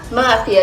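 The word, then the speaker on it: Murcia: It's Murphy, not Mercy, which is how I pronounced it earlier.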